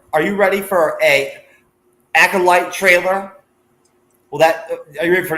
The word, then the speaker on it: Acolyte: I could not pronounce the word correctly for like the first couple months that the show came out. I wanted to call it the Acolyte every fucking time. And finally, it got through to me that it's actually called the Acolyte. So thank God that I can now pronounce it.